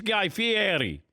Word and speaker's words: Guy Fieri: my audience who were saying that I was mispronouncing it and my wife's Italian so I said no I it's Guy Fieri what do you have behind you that that